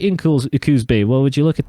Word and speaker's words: Coos Bay: yeah we're right in Coos Bay what would you look at that um almost like cools Bay I guess it is a cool area to be but it's not cool Bae it's Coos Bay there Prime get that